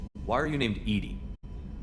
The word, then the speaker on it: EDI: Why are you named Edy? Edy is the phonetic pronunciation of EI.